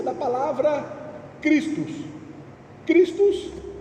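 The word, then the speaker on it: Χριστός: Christus, que seria a pronúncia, no grego de Cristo, Cristo.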